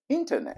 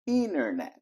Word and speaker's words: internet: meus alunos mais adoram se for no inglês britânico é internet mas no inglês americano o t depois do n desaparece virando internet outra palavra que todo